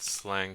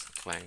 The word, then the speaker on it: clang: will check the lldb version and I need slang C plus plus clang C plus plus version God damn I pronounce it wrong every time anyway I need